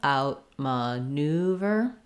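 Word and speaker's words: outmaneuver: vowel schwa looks like probably secondary stress on out main stress on not on ma on out my main stress on new and then bur so you can again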